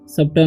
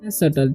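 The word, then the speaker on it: subtle: तो यहां पर सुट ही पढ़ना है या सबटल नहीं पढ़ना है इसे पढ़ना है सटल ठीक है बी का उचार नहीं होगा ठीक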